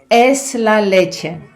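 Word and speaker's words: es la leche: Друзі, і сьогодні я хочу подарувати вам, як завжди дуже корисний і вкрай вживаний вислів Еслалече. І саме так його треба вимовляти з душо з душою, виразно, емоційно, з любов'ю, бо це перекладається як якась захопленість чимось чи кимось.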